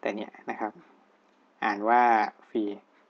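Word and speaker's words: phi: ปี นะ แต่ เนี่ย นะ ครับ อ่าน ว่า ฟรี p h i นะ ครับ แต่ ที่ นี้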